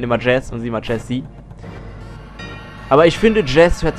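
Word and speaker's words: Jessie: Ja, normalerweise wird der Name, der so, wenn der so geschrieben ist, wird er eigentlich Jesse ausgesprochen.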